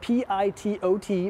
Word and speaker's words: pitot: pitot tube it's filled p i-- t-- o-- t but the last T is silent pitot tube get it right guys and this right here